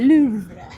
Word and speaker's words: Louvre: That's YouTube said. That's how you say it. They said Louvre.